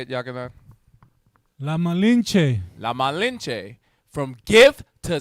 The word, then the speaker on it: La Malinche: La Malinche.